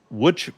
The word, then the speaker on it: Łódź: And it is the hammer belonging to the team from Łódź, Poland. Now, that is spelled l o d z, but it is pronounced Łódź.